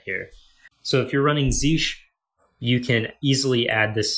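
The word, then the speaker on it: zsh: using uh z sh it's actually pronounced zeesh um but uh if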